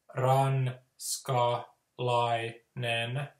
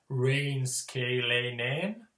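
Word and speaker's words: ranskalainen: So you know, you'll say ran, ska, lai, nen, not the rain, scale, nen, because like a lot of foreigners who are really new, they'll like turn it into some strange thing like rain, scale, nen.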